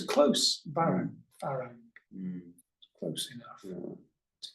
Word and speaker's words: farang: Farang, yeah. Farang. Farang. So it's close, Farang, Mm, close enough yeah.